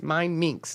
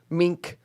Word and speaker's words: Mindminx: Remember, it's Mindminx, not Mink or Mince or whatever.